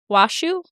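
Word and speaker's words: Washoe: Washu.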